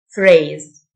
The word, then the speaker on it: phrase: ينظم organize organize عبارة phrase ال ph تنطق فيه phrase عرض تقديمي presentation ال